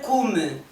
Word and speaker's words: cume: Desculpa, Ricardo, mas tens que dizer a última sílaba, Criso, se não parece que estás a dizer cu. O seu verdadeiro cume. Ah, parece, parece. Cume, cume, cum come.